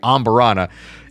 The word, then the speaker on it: Amburana: I got to pronounce it, properly here. Amburana.